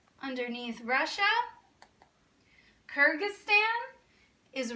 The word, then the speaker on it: Kyrgyzstan: like crazy names I'll tell you how to pronounce them Kazakhstan Uzbekistan Turkmenistan Tajikistan and Kyrgyzstan all right I'm gonna need you to zoom